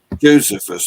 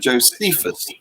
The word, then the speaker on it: Josephus: to talk about uh josephus or as you americans like to call it josephus you have a predilection for pronouncing the distressing the second syllable anyway he he said